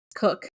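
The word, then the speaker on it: Koch: that I worked with his last name is Cook but it's spelled K O C H and somebody was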